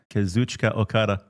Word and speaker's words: Kazuchika Okada: Kazuchika Okada.